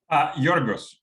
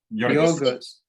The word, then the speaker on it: Georgios: So think more like Y-O rather than Yorgos. Yorgos. It's the Greek pronunciation, right? I don't know. Yeah. Exactly. So the characters don't, the Latin characters don't quite map phonetically to Greek characters.